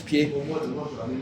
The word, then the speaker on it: pied: comment ça se prononce pied comment pied ah oui on prononce pas le D ben voilà voilà donc